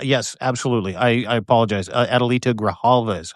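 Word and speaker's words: Adelita Grijalva: Adalita Graalva is how you say her name.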